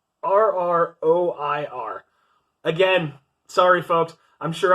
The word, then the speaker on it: terroir: I'm not even sure exactly how to pronounce that. Like, terrier? Terroir.